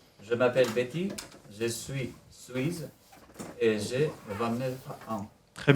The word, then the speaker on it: Suisse: Je m'appelle Betty, je suis suisse et j'ai 29 ans. Très bien. On dit Suisse. Suisse. Suisse. Suisse. Pas z.